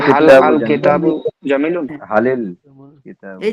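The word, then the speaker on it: هل الكتاب: আবার আল কিতাবু, তো আলিফ লামের যে আল কিতাবুর যে আলিফটা আছে, এই আলিফটা কিন্তু লেখায় আসে, যদি তার পূর্বে কোনো শব্দ থাকে তখন এই আলিফটা লেখায় আসবে কিন্তু উচ্চারণের সময় আসবে না। তখন হাল আল কিতাবুরে আমরা মিলাইয়া বলবো হালিল কিতাবু জামিলুন।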